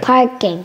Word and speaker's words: parking: Parking.